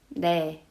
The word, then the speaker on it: 네: But when you pronounce this, ne, ne, I don't really feel the vibration. It's very subtle. So if I'm teaching Korean how to make N sound, I would teach them pronounce niun, but you have to exaggerate. Not just na, na, na, na, na, na. More, you need to make a more nasally sound. So in contrast, when you make na sound, pronounce N more abruptly.